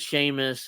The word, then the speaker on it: Sheamus: cornette calls him uh seus seus yeah I'm pretty sure sh he's just enunciating he's just pronouncing it yeah see as it's spelled but it's not said that way in Ireland yeah so giant Battle